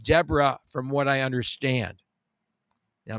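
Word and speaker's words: Desbarats: It's actually called Deborah, which is a weird thing. Okay, that's another weird naming convention. It says Desarats, but it actually is pronounced Deborah from what I understand.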